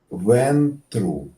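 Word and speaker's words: Ventrue: Ventru. Yes. Ven, Yeah, that's vent very and water, similar to what I- right? And true, like truth.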